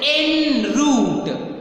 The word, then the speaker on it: en route: It is en route.